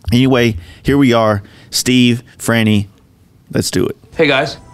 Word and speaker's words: Franny: Yep, Franny.